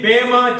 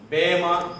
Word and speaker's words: Bema: In the Greek, there is only Eta. So the literal the pronunciation can be Bema judgment.